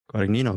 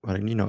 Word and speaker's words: Guadagnino: You sounded really good pronouncing his last name. Guadagnino, very good. Guadagnino.